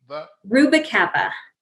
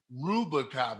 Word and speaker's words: Rubalcava: Did I pronounce her Rubalcava? Rubalcava. Rubalcava.